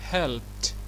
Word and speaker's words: helped: فعندي الفعل help هيبقى ايه؟ helped. helped. شوف اخر صوت نطقته ايه؟ ت.